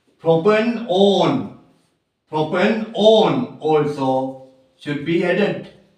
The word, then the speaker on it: propanone: Propanone.